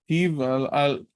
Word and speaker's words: Ketiv: Ketiv, pronounced Ketiv. I just wrote it with a bet and a line underneath, but it is really pronounced like a V.